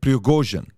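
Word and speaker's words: Пригожин: Number one, the guy behind Wagner Group is a guy named, I want to pronounce this correctly, Yevgeny Prigozhin. Okay, Prigozhin, that's his name, Yevgeny Prigozhin.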